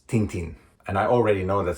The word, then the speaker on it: Tintin: Tintin, or I think as the right pronouncing is something like Tatan. That is actually the right pronouncing. I didn't mess that. Tantan. That is the way that all the pronunciations after this will be measured. Tantan. But everybody else is Tintin.